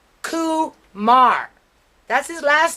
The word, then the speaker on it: Kumar: i was talking to let me pronounce his name correctly koo mar that's his last name